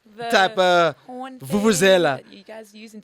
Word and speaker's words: vuvuzela: Jeez, a fufuzela. All right, then. It's very What is the sophisticated. correct term? How do you say it? A vuvuzela.